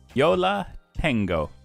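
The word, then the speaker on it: Yo La Tengo: is a band I have not heard of Yola tengo am I pronouncing that correctly yeah yes I don't know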